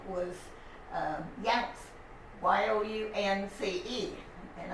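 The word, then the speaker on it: Younce: her maiden name was yanks y-o-u y-o-u-n-c-e and i remember because it rhymes with bounce boys janet you pronounce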